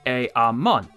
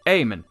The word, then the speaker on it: Eamon: I've pronounced it Eamon, but I was told it's actually Eamon.